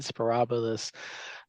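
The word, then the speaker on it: Sporobolus: Here's prairie drop seed spirabilus. That's how you pronounce that one.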